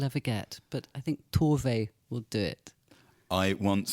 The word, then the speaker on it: Tove: I can't give the definitive, but having hung out with Sophia Jansson, Tove's niece, she's always said Tove.